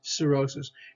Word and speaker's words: cirrhosis: skin cellulitis cirrhosis cirrhosis so usually there's a ce here's a c i okay cirrhosis and cirrhosis is a